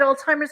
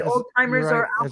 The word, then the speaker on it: Alzheimer's: joke my father had Alzheimer's I never heard anybody say Old-Timers as a little kid that old saying as a little kid you thought it's Old Timers it sounds like Old-Timers yeah the first sign